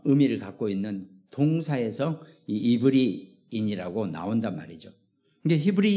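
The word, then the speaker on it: עברי: 히브리인 예 이브리 어 히브리 발음으로는 이브리 합니다 이브리 이브리 아바르 그래가지고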